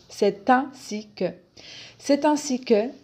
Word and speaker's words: c'est ainsi que: un connecteur de justification la prononciation simplifier ses ainsi que on fait la liaison entre le sait et le ainsi c'est ainsi que c'est ainsi que 1